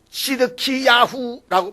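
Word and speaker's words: צדקיהו: 우리말로는 시드기야라고 말하지만 히브리어는 시드키야후라고 부릅니다.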